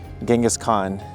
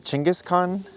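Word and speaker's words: Genghis Khan: So, one of the biggest histories worldwide is well, Genghaskhan. And we're here at the Genghaskhan uh statue complex. And it's actually pronounced Chin Chinjis Chingis Khan, which I just learned that today.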